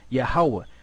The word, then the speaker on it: Yahweh: So what's the Most High's name? Yahweh. What did the Gadites pronounce the name as? Yehovah. But then you had the Ephraimites in the Taino language, they pronounce his name Yahya.